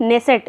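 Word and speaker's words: Knesset: next है अह Israel संसद द्वारा सर्वोच्च सम्मान स्पीकर ऑफ नेसेसट इसको ये स्पेलिंग ये है के एन E double S ई टी लेकिन नेसेसट इसको पढ़ा जाएगा ये मेडल किसको मिला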